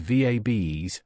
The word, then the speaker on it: VABEs: We can call these VABEs, rhymes with babes, for short.